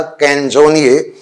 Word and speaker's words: Canzoniere: इसका प्रोनाउंसिएशन है, Italian word है, पढ़ने में तो ऐसे आता है कंजोनिए, लेकिन इसका करेक्ट प्रोनाउंसिएशन है कैंजोनिए.